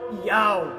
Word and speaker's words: Yahweh: O nome do Pai, e é do hebraico, Yod, Re, Vav, Re, o qual aparece 6.828 vezes nos originais hebraicos, transliterado para YHWH, pronunciado por Yahweh, foi substituído por Roma pela palavra Senhor.